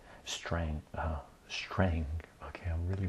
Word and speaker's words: Strang: edition um linear algebra and applications uh Gilbert strand Strang uh Strang okay I'm really bad at pronouncing names so uh my apologies to the